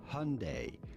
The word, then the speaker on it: Hyundai: I said on day I think Koreans would say it slightly differently but it's very difficult to exactly mimic but that would be essentially Hyundai Hyundai oh pronounce AI is essentially how you want to say it here how many